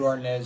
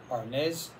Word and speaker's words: arneis: chance you can probably find yourself a good ornaz somewhere in the 15 to 20 dollar range which is what i paid for this one from delaware again i'll post it's spelled a-r-n-e-i-s harness white barolo from northern italy in the piedmont